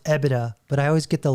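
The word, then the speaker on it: EBITDA: Um, it's pronounced EBIDA, but I always get the letters wrong.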